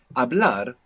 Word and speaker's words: hablar: Hablar is to speak in Spanish. Hablar. Hablar. It's spelled Hablar. What's happening with that H? It's It's silent. silent. Totally silent.